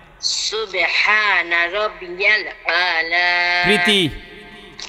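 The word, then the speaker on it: الأعلى: আলা সুবহানা রব্বিয়াল আলা না না আলা আলা বলেন না না শোনেন আপনি বুঝেন হামজায় যাইয়া কারে ধরছে?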